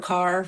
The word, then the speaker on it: Kerr: That being said that being said Deborah Kerr rhymes with star.